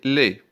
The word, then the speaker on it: laid: Il est laid, avec L-A-I-D. Le D ne se prononce pas.